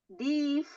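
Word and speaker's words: dief: ee membacakan sebuah e kata Ya siap di Div artinya pencuri Bagaimana cara tulisannya Siapa yang tahu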